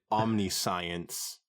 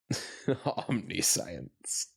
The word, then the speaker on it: omniscience: also have words like omnis science just put in there omniscience oh omnis what what is wrong with me omniscience it is it's it's spelled the same way you can't fault me omn science would have a a hyphen to separate Omni and science not necessarily maybe it's